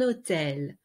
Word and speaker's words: hôtel: Je suis restée dans un hôtel. Hôtel, we don't pronounce the H.